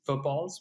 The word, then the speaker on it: FTBLs: And that's why, even though our North Star OKR that we really cared about was footballs, which is what we called FTBLs, just because phonetically it was easier.